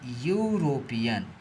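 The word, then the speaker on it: European: इसका प्रोनंसिएशन क्या होगा? इसका प्रोनंसिएशन होगा यूरोपियन। तो इसका प्रोनंसिएशन जो यूरोपियन होता है ना तो पहला जो लेटर आ रहा है य आ रहा है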